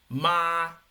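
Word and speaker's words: mā: con su pronunciación no O sea el tono uno es una línea recta no Por casualidad sino porque el sonido es un sonido recto Vale entonces el tono uno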